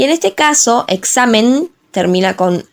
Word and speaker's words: examen: En el caso de la primera palabra, que es examen, está en la sílaba xa, examen, por lo que la palabra es grave.